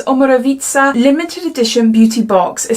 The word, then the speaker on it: Omorovicza: Oh, it's got in here how to pronounce it, and it's Omorovicza.